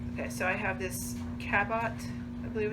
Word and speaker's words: Cabot: Okay, so I have this Cabot, I believe it's pronounced it, C-A-B-O-T.